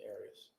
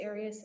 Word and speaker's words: Arias: pronouncing any of you I always pronounce it Aries I've heard it pronounced about seven different ways I say Aries as does the rest of my family well let's back up